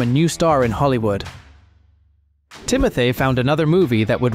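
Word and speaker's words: Timothée: teot or OT it's really confusing T it's pronounced Timothy I always thought I don't know if you guys I thought it was timote because of the double e this was Timothy's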